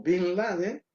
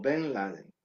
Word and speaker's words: Bin Laden: Cuando tu programación mental te hace decir Bin Salman o Bin Laden en vez de Ben Salman o Benladen, que es como realmente se llama.